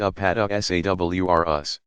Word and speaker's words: Apatosaurus: giant plant eaters include the Apatosaurus pronounced up at esa WR us used to be called